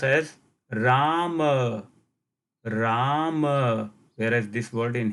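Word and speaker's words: राम: But in Sanskrit, the same word will be pronounced as Rama, Ram, whereas this word in Hindi will be pronounced Ram.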